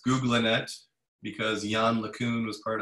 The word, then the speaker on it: GoogLeNet: some definite innovations in googlenet and it is pronounced googlinette because yan lacoon was part of the the